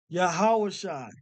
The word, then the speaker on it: Yahawashi: make this bigger down so you pronounce this yah hold on y sh I yah ha sh I yahawah Shai yahawah Shai yahawashi so we broke down